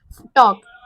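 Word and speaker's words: talk: नहीं बोलते नेक्स्ट जाएगा टक टी ए एल के टॉक इसमें एल साइलेंट टक बोलते हम य पर विल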